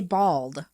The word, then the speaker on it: bald: And I say bald. This, what we're looking at, says the Americans pronounce bald like bold.